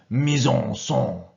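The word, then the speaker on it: mise-en-scène: Now, as you can see, it's a French word. Being French, you should use your correct French accent.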